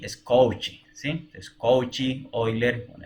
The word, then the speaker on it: Cauchy: Así como no es Cauchy, es Cauchy, ¿sí?